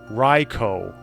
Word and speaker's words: Raikou: never know oh in Japanese it's raicho raicho if it really